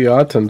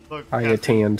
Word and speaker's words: Ayatan: 2 Yaten stars, by the way. Yaten stars? Yeah! Yeah! Okay. Oh, no, I feel like that's worse than the Zypher. Ayatan stars.